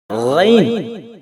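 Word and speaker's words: غين: இந்த எழுத்தை எப்படி உச்சரிக்கணும் அப்படின்னா ரைன் என்று உச்சரிக்கணும்.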